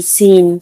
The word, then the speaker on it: scene: SCENE, सीन। सीन ने भी एस के बाद सी है तो सी का उच्चारण नहीं करेंगे हम।